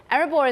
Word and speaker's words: Erebor: Now, you're in a company that is Erebor, which is all about, I think I'm pronouncing it correctly, right? Erebor is yep.